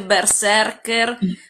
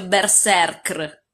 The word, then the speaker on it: berserkr: parte che non si dice berserker, ma si dice berserkr. Berserk. Berserkir in plurale. Ok. Berserker è solamente perché le persone fanno fatica a mettere tre consonanti di fila.